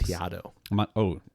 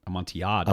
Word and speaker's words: Amontillado: Amontillado. Amontillado. Amontillado. Don't pronounce the double L. Don't know L's.